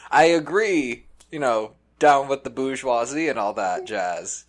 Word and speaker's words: bourgeoisie: I mean, I agree, down with the bourgeoisie and all that jazz.